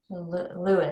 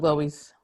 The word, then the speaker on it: Loeys: to go is it louise or louise so i always say it's like the long uh jumper carl lewis but i'm used to hearing it all different ways so louis is that right yes okay wow